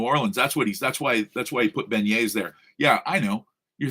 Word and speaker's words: beignet: That's why he put beignets there. Yeah, I know. You're thinking, wait, why the fuck do the French not pronounce their T's? Because they're too good for T's. So it's beignet.